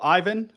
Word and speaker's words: Aiven: As you said, I work for Aiven, which, by the way, has the right pronunciation because the Italian pronunciation is the correct one. And we are lucky enough that the Finnish one is exactly the same.